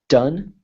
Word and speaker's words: done: pronunciation different G done done like done rhymes with fun same sorry fun fun